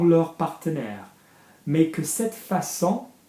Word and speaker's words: façon: Mais que cette façon, soft C because of the cedilla. Yeah, can you see the little tail accent under the C?